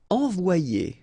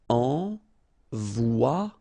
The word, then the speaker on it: envoyer: Okay, so it's quite interesting because you've got this Y here, all right? But then if you get one vowel before, one vowel after, then it will change like if it would be E here, one, and then a second E here. So you get the sound O-I, so it's wa, and then you get the sound I and ER, it's ye.